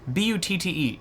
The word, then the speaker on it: Butte: B-U-T-T-E. I've always been confused whether it's called or pronounced Boot or I thought that was Butte.